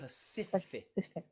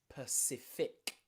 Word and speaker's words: pacific: when the c is before the i we pronounce it as a s a soft c sound okay specific pacific persist persif then you find another c at